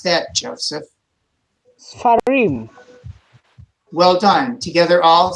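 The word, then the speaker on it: סְפָרִים: But then when we go to the plural of book, books, how would we pronounce that, Joseph? Sfarim. Well done. Together all, sefarim.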